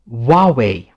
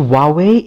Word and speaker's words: Huawei: this is pronounced huawei huawei the h to huawei is virtually silent in chinese so do not say